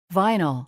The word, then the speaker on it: vinyl: 그리고 이거는 vinyl이라고 읽어요. vinyl, vinyl, 자, 이 vinyl이라는 친구가 비닐이기는 한데 재질이 비닐이기는 해요.